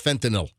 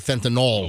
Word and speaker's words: fentanyl: Because the mother mixed the baby formula with fentanyl. Not fentanyl, like most people say, because it's not NOL, it's NYL, it's fentanyl, not fentanyl.